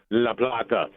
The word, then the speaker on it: La Plata: And Rich would correct you and give you proper pronunciation, La Plata.